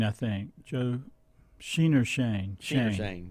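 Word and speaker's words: Schoen: Joe Sheen. Coming from. Is that how you pronounce it? I saw it. Shane, I think. Joe Sheen or Shane? Shane. Joe Sheen or Shane. Joe Shane.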